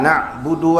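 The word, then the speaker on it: نعبد: Budu tidak boleh diperpanjang; tidak ada 'waw' sebelum 'dal'. Iyyaka na'budu wa iyya, tidak salah, tidak ada waw sebelum budu.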